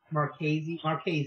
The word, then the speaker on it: Marchese: I pronounced it away for a long time, and then he actually said it, and I was like, oh, that's not how I did it. So I think it's Marchese, I think is how it's pronounced.